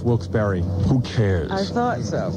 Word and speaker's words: Wilkes-Barre: The guy told me it's pronounced Wilkes-Barre. Who cares? I thought so, but I wasn't sure. Is it Wilkes-Barre? That's what he said. It's Wilkes-Barre. B-A-R-R-E, right? Yeah, but it's Barry.